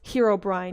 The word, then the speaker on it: Herobrine: And then Herobrian is just how I pronounce Herobrine because apparently it's Herobrine, you know.